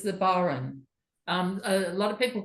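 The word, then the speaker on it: bodhrán: It's the Baron. A lot of people call it the Bodhran because it's spelled like Bodhran, B-O-D. Is it H-R-A-I-N? Yeah. Oh, But yes. I think the correct pronunciation is Baron.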